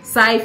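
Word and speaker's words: Cyph: His name is Saif. See, this housemate, they're supposed to start with the pick names we go actually work for them. Saif is spelled C-Y-P-H.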